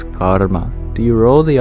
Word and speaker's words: karma: In English, we don't roll the R. And in fact, you mostly don't. It is only if we turn back the time many thousands of years ago does the R become vocalic. So it's not just karma, it's karma. Actually, it's a vowel. So there's 3 syllables of karma. It's the ka, ur, and then the ma.